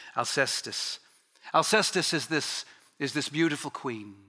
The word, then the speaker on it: Alcestis: So Euripides, he writes this play on, in Greek, it's Alcestis, but it's usually pronounced in English, Alcestis.